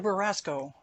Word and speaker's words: Beraskow: I'm now a little worried about how I'm going to pronounce your name. Mr. Baraskow, you have the floor for 2 minutes, and my apologies for mispronouncing your name.